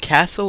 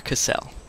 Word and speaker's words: Cassell: am here with Warren castle Jr is it pronounced Castle or casselle castle castle Warren castle Jr and this dude